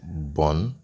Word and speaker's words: BRN: able to B Bon BR RN is actually pronounced Bon and you're going to be able to redeem